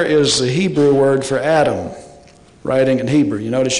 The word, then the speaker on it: Adam: And the vowels were added later to help people who couldn't read just consonants, and those are the two vowels, and that's pronounced Adam.